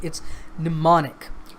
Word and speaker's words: mnemonic: attention to the pronunciation it's mnemonic the M at the beginning of the word is silent okay so it's mnemonic